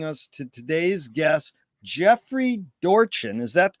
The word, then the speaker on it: Dorchen: Also want to thank Kelly Kuvo for introducing us to today's guest, Jeffrey Dorchen.